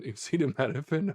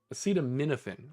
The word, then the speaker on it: acetaminophen: Genenosin and an acettophen. Okay, speaking of acetamed, acetaminophen, excuse me, I have gotten in the habit of mispronouncing that, as have those before me.